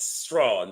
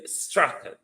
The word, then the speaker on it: Strachan: Ryan Strachan, you call it Strawn, but the British pronunciation for the spelling, sir, is Strachan. Strachan is the name.